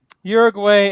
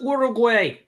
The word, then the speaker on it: Uruguay: And the Group H is Portugal, Ghana, Uruguay, and the Korean Republic. It's pronounced Uruguay. God damn it. Some people pronounce it Uruguay.